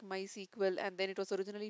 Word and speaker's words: MySQL: have given here and how it has been pronounced like my sequel and then it was originally founded and developed